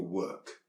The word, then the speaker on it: work: It sounds more like an ER sound.